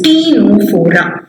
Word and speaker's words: Ctenophora: never heard about phylum tino4a here the c is silent c is silent it is t no forum now for the final